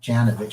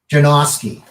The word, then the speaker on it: Janowski: It's not Janovich. How do you pronounce Milt's last name? Janowski. And what? Janowski.